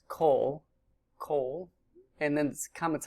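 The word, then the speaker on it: כֹּל: word all or every which is pronounced coal Coal and then comets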